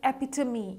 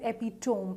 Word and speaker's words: epitome: It is pronounced as epitome. It's not pronounced as epitome, it's epitome, right?